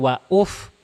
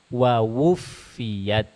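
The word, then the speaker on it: وَوُفِّيَتْ: Ini wawuf, bukan wauf. Masa wauf? Wawufiyat. Wow. Gimana? Wawu. Wawufiyat. Wawufiyat.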